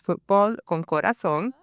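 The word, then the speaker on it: Fútbol Con Corazón: And so now for the last 3 years, you've been the executive director of FCC, which is Fútbol Con Corazon.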